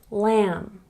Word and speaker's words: lamb: when B comes after the letter M in a word we don't say it here are some examples lamb comb thumb remember with